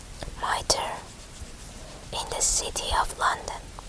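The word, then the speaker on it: Mitre: say this square m i t r e miter in the city of London 34 of an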